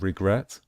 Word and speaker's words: regret: With regret, we stress the last syllable, the final syllable.